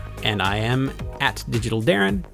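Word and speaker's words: Deron: I am at digital Darren which is spelled D e r o n for some reason tell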